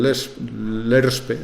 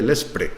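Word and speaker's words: LESRPE: al lobo dentro del LERSPE, es muy difícil de pronunciar, por eso la mayoría de la gente dice lespre, pero es l'ERSPE, eh realmente no es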